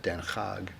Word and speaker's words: Den Haag: Over there they pronounce it Den Haag, and so we were